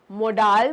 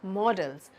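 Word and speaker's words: modals: अब हम आ गए हमारे मोडाल वर्ब्स पे। नो, बहुत लोग इसे मोडाल कहकर बुलाते हैं, but that's a complete wrong pronunciation, completely wrong. ये होता है मॉडल्स, मॉडल भी नहीं होता, मॉडल्स, ठीक है।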